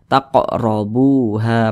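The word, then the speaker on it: تقربوها: Nah, maka ini huruf qaf sukun, dipantulkan cara bacanya taqo, mantul seperti itu. Dan dia tergolong kepada qalqalah kecil, qalqalah sughra. Nah, karena dia berada di tengah bacaan atau di tengah kalimat seperti itu. Taqrabuha mantul, taqrabuha.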